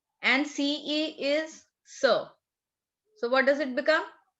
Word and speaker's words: ce: QUI is pronounced as key. Write it down. Key. EST is A. And CE is sir.